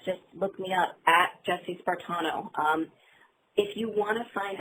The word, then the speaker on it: Jessie Spartano: JESSIE-SPARTANO. Last name is like Spartan and then add an O, so Jessie Spartano.